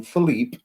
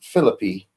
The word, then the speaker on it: Phillippe: And no, people, when you read his name, I know we would normally pronounce that as Ryan Philippe. That's how we think it's pronounced. It's But Philippe.